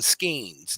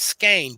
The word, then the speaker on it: skein: balls of yarn or we called them schemes now I wasn't corrected the pronoun correct pronunciation is skein but children were always